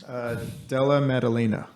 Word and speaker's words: Della Maddalena: Della Maddalena.